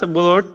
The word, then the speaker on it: blood: the as the venomous blood crosses the sword blade. ব্লাড শব্দটা কখনো পড়োনি? ব্লাড, উচ্চারণগুলো ঠিক করতে হবে তোমার, হ্যাঁ উচ্চারণ ঠিক করতে হবে।